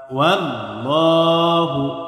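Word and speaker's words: والله: ওয়াল্লাহু, ওয়াল্লাহ, আল্লাহর সাথে লাম কি হবে? পুর হবে, অর্থাৎ মোটা হবে। কেন? কারণ এই আল্লাহর সাথে লামের পূর্বে জবর আসছে। আল্লাহর সাথে লামের পূর্বে জবর অথবা পেশ আসলে আল্লাহর সাথে লামকে পুর করে, অর্থাৎ মোটা করে পড়তে হয়।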